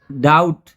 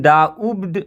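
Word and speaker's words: doubt: डाउट, ये डाउट है, इसमें बी साइलेंट है। इसको हम डाउब्ड नहीं पढ़ेंगे क्योंकि इसमें बी साइलेंट होता है, इसमें बी का उच्चारण नहीं होगा।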